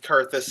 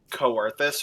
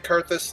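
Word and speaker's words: Coerthas: For the longest time, I always pronounced it Coerthus, or like I put way too much emphasis on it because, up until Heaven's Ward, they don't actually say the place's name.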